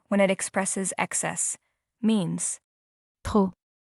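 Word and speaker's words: trop: Two, too much or too many when it expresses excess means P. The letter P at the end is silent, not pronounced.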